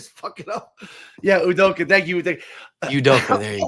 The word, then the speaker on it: Udoka: Yeah, I like I want you to pronounce his name because I always it up. Yeah, Udoka. Thank you, Udoka. There you go. I'm still saying that wrong. I'm like Udokulka.